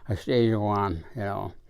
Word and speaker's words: Yeibicheii: Yeibicheii, sounds like you're growling or saying house, but it is that Yeibicheii was the correct pronunciation.